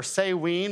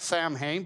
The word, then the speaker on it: Samhain: The Druids had this festival called Samhain, or Samhain is kind of how it was pronounced. It looks like Samhain, but that's actually not how it's pronounced.